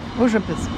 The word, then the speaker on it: Užupis: Užupis.